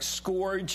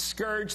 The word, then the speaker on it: scourge: and not even saying it's Scourge not scor it's eima as every